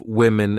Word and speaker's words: women: and plural forms of women and woman have the same spelling at the beginning wow M the pronunciations are different woman women so watch out for that when you say this